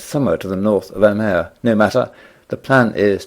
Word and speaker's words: Amer: Alternatively spelt with a B, but however spelt, usually pronounced Amer.